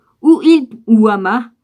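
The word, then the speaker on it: Hamath: dans le pays de amath ou vides ou hama ceci peut comme ça se prononce h à m ath où il prononça contre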